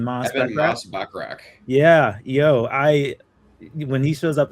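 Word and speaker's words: Moss-Bachrach: How do you pronounce his last name? Moss Bachrach.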